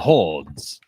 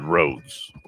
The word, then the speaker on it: Rhodes: things like Johannes or our hordes ah hordes it's the town is called roads uh don't you try